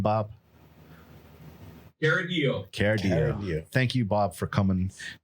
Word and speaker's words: Chiaradio: Chiaradio.